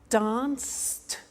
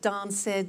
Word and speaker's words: danced: look at that watched danced eliminate the e pronounce the t danced laughed washed and walked okay now the temptation is to say watch it dan said la fed wash it